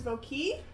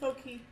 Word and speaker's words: Voquis: And my character's name is Voquis.